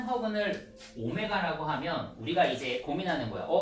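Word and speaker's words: ω: 자, 뭘 할 거냐면 x세제곱은 1의 한 허근을 자, 더블처럼 쓰지만 오메가라고 읽어.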